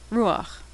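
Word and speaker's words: רוּחַ: this was pronounced but when the last letter is and it's followed by patach the Patak is pronounced first ruach I've seen some texts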